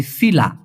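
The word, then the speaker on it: sila: এই কথাটা ব্যবহার করে এস আই এল এ উচ্চারণটা হবে সিলা যেমন আমলা জামসিলা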